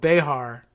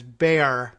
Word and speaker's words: Bexar: Although I know we've discussed what I've called Behar County, Bexar. Giving it the Spanish-ish X pronunciation. But no, apparently they gloss over that and anglicizing it as Bear County, but basically sounding like Bear County, but maybe a little extra half hitch of a syllable in there, Bear County.